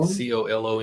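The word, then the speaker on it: Colón: And then I believe you pronounce it Cologne. Cologne? Colon.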